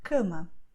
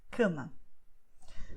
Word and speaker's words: cama: So the example will be cama. Okay, cama. Here you have c, which is pronounced with your nose, actually, c. Then you have ma, okay, which you're opening a little bit more your mouth.